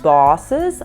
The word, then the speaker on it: boss: Mas boss, chefe, é todo com a boca aberta.